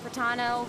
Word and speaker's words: Fratano: Hey everyone, I'm Fratano, rhymes with Capitano, the voice of Child's Master, Skirk.